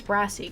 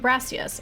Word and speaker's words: Brassius: Maybe his name's Brassy, because it rhymes with grass. I am Brassius.